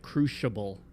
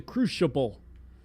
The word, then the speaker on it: crucible: She's literally pronouncing it crucable. Like an sh sound. The crucable. It's the crucible. Is that an oldfashioned way of pronouncing it? Because I've never heard it pronounced crucable. I've only ever heard crucible.